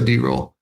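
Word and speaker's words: Darol: We call him D-roll because we got a couple of Daryls, and his is spelled D-A-R-O-L, so D-roll.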